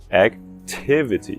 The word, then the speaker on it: activity: Tiv é a sílaba enfatizada. Tiv, T-I-V. Tiv termina em consoante. Então é o som curto. Activity e não activity ou algo assim. Não. Porque é tiv que é a sílaba activity.